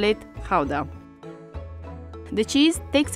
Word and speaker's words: Gouda: So since we're talking about authentic Dutch cheese, we're going to call it Gouda. The cheese takes its name from the city of Gouda in South Holland.